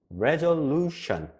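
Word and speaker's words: resolution: 그러면 여기에서 보세요 루에 강세 악센트 세게 발음이 되는 거예요 루가 세게 발음이 돼요 그래서 루션 이렇게 돼요 한번 따라 읽어주세요 레전루션 다짐 결심 결단 레전루션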